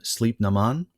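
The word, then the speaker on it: Sliabh na mBan: is uh armored Rolls-Royce in Irish it's pronounced something like um sleep Naman that's the the name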